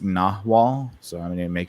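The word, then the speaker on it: nagual: um so I have uh okay so it's pronounced nawal so I'm going to make sure it's it's it's uh spelled n-a-g-u-a-l but it's pronounced nahwa so I have to remember that um but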